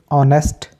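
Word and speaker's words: honest: है इस तरीके से ऑनेस्ट एच के बाद ओ आ रहा है तो एच साइलेंट हो जाएगा ईमानदार ऑनर यहां पे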